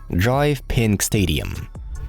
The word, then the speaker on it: DRV PNK Stadium: Inter Miami play their home games in DRV PNK Stadium, pronounced Drive Pink Stadium.